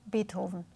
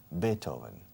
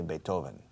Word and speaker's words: Beethoven: Beethoven. Beethoven. Good. Similar to English, Beethoven. Do you accentuate the first syllable or the second? The first. Beethoven. In Spain, they say Beethoven.